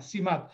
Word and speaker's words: CIMAT: Permíteme que lo pronuncie con la C mexicana, CIMAT.